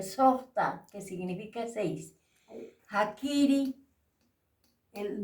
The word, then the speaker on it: sojhta: del hombre softa aquí Sota se pronuncia Sosa que significa seis hakiri